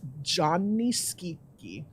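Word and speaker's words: Gianni Schicchi: Italian for Johnny and skeety rhymes with squeaky and then oh that's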